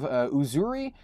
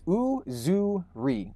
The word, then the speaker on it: Uzuri: And he said, it is a Swahili word meaning beauty, Uzuri.